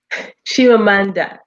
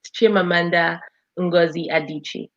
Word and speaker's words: Chimamanda Ngozi Adichie: name again because i'm sure gonna picture the pronunciation shivamanda so it's an evil name so she's from the east chimamanda ngozi adichie ngozi adichie wasn't that hard excellent and we